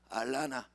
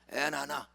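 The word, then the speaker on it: Atlanta: 발음 고쳐야지. Where are you going? I'm gonna 아틀란타. What? 못 알아들어요. I'm gonna 따라서 알라나. 따라서 잘 모르면 따라서 I'm gonna 에나나. 그렇게 발음해야 알아들어.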